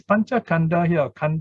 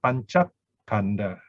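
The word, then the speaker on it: pañcakkhandha: And then now here the K is added in to make it have a good sound, panchakanda. Of course, you can pronounce it as panchakanda, but here somehow in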